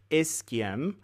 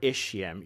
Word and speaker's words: ischium: this is known as the ischium or ischium you can pronounce it both ways I've heard it both ways so I think it's accepted as both ways now the third bone